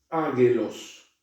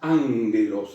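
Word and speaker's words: ἄγγελος: Por ejemplo, la palabra, esta palabra, que habíamos visto la clase pasada, águelos, se pronuncia ángelos, es decir, esta gama que precede a otra gama, en este caso, ¿ven?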